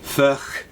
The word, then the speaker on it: Furch: of first guitars yes i know i'm pronouncing it fresh and i probably should be pronouncing it more ferch um but flash sounds